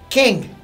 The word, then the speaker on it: Qeng: E com um letreiro na frente escrito Kang, né? Desse jeito mesmo, né? Q-E-N-G. Que forma a mesma pronúncia em inglês de Kang, ok?